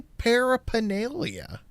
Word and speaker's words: paraphernalia: Dude, all the P's need to be pronounced.